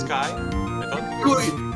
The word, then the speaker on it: Skye: that's the last wait it's actually pronounced sky you're getting anal about